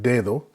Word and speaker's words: dedo: And I also explained that whenever the D is at the beginning of a word, it'll be that D sound, like dedo. But whenever the D is anywhere other than the very beginning of the word, it has more of a TH sound to it. Dedo. We don't say dedo, we say dedo.